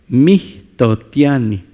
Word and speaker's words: mihtotiani: Mitotiani Mihtotiani. La H siempre la vamos a pronunciar como una aspiración.